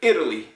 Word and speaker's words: Italy: Well, it's Italy. I'm from Italy, Italy, Italy. Emphasis on the first syllable.